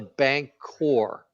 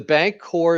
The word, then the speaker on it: Bancor: So he was an advocate for what they called the bank core. Yeah. Okay. And the bank core is spelled BANCOR.